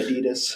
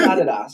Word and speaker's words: Adidas: We say Adidas. Yeah. That's how you say it in the States, man. It is Adidas, yeah.